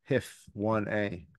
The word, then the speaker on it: HIF1A: oxidative stress alteration in a beneficial way using HIF1A. That's how you pronounce it.